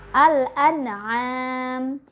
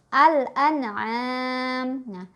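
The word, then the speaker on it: الأنعام: ada kata seperti ini maka ini kita bacanya al-an'aam Al An'am dimana Alif Lam Qomariah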